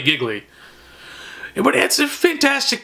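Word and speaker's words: Gigli: go with is giggly some people pronounce it as Dealey but there's 2 g's it's clearly giggly it would add some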